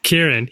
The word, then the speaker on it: Kieran: Kieran.